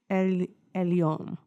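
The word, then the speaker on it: Elyon: Elon, God most high.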